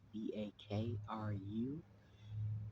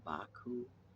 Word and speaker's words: Bakru: That's Bakru. Some people say Baku, Bakoo.